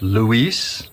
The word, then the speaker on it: Luis: It is pronounced Luis, not Louis.